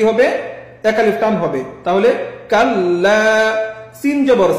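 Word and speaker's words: كلا: হবে কাললা ইন জবর ইচ্চারণটা গলার মাঝখানে হকের মধ্যখান ইয়া লাম জবরলা সলা এখানে সাইলা শুরু থেকে কাললা সলা জবর না কি হবে কাললা এখন যদি করি তাহলে উচ্চারণটা আমার কেমন হবে গলার চাপ দিতে হবে মধ্যখান তাহলে মাশাল্লাহ এরপর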